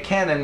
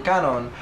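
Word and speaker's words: Kanon: message on tumblr saying that you're pronouncing cannon wrong and it's caught on and we know that we Americanized because it's easier on our American tongues to say canon rather than cut on and the person that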